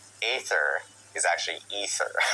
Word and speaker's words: Aether: And then we learned that Canon in Diablo I despite it being spelled AE T H E R, it's actually pronounced Ether, uh thanks to Mh